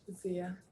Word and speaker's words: Zia: Well, while they do that, while they go to the bar, I'm gonna turn to Zia or Zaya. How do you pronounce it? Zia. Zia.